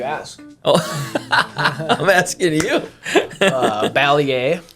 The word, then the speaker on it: Balliet: Balliet. Balliet. Okay. Yeah. Nice. Okay. That's how the younger generation is pronounces it. Yeah. But that is the real technical way. I think so, yes. Okay. Some of my aunts will say Balliet. Some of my dad says Balliet.